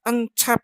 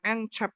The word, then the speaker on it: Encep: Pak Encep, itu bukan Encep ya, Encep bacanya, dari Sunda, dari Jawa Barat.